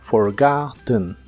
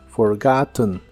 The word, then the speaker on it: forgotten: en inglés es forgotten la segunda o se pronuncia como una a profunda forgotten forgotten y usaremos el verbo